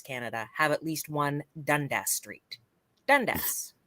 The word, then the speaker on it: Dundas: and cities across Canada have at least one Dundas Street Dundas right Dundas Toronto has a Dundas